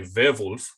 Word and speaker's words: Werwolf: I mean, if you want to make it sound more German, you can say Werwolf.